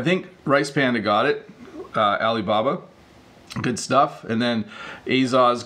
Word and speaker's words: Alibaba: the company Alibaba so that's how we would pronounce it as English speakers we would call it Alibaba this is a large